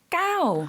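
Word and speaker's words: เก้า: 숫자 라고 하면 9 까오 들어보셨나요 4 태국인들의 가장 좋아하는 숫자 9가 있었습니다 왜가 장구를 좋아하느냐 까오 라는 발음이 발전하다 발자국과 같은 발음 이에요 물론 쓰는 거는 방법이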